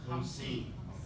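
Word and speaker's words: خمسين: Ham, not zine. Ham. Seen. Hamsin.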